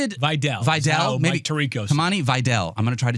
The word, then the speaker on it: Kamani Vidal: Stefan Kamani Vidal did get banged up. Maybe I was Am I still saying it wrong? How did Videl Videl Kamani Videl I'm going to try to change it?